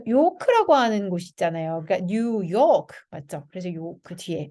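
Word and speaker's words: New York: 그러니까 뉴욕 맞죠? 그래서 요크 뒤에. 그래서 이렇게 두 단어로 이루어져 있는 단어들은요. 뒤에 강세가 있습니다.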